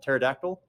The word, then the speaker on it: pterodactyl: toote it's spelled weird it has a silent P do you guys know how to spell pterodactyl pterodactyl yeah exactly there's